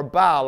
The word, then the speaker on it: Baal: Jezebel was the one who raised up worshippers for Baal or Baal, depending on how you pronounce it.